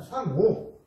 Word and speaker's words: 상오: 그 다음 상오. 상오라는 건 이게 악이라고 되어 있는데 이때는 오라고 읽습니다. 상오.